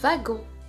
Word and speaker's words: wagon: La lettre W se prononce V, comme dans wagon.